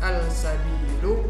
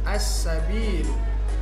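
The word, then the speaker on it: السبيل: Di sini bukan al-sabilu tapi langsung masuk ke huruf sin, bunyinya jadi as-sabil.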